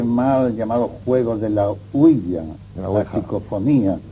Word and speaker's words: Ouija: Generalmente se dice ouija, pero la verdad es que oui es sí en francés y así se pronuncia, y ja es ya, que es sí en alemán.